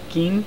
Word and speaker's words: Ed Gein: filmed Corey Cutler's a ed gein gein I just said it wrong again dds kind of